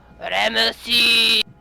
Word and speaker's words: Ramesses: Ramses. So I'm just gonna call him Okay. Ramses, Okay, I see. I see that Ramesses, with or the- however you want to yeah. pronounce it. Ramesses.